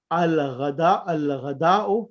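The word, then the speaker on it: الغداء: Al-ghada'u means the meal or the food. And whenever after alif lam there is a ghain, alif lam is completely pronounced.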